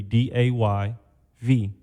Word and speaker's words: Davey: If you keep the pronunciation but change the spelling, it'll be D A Y V. Day V.